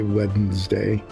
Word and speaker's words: Wednesday: I mean, there are probably plenty of people who do, but I find it difficult to say Wednesday with the D in front of the N the way it's spelled.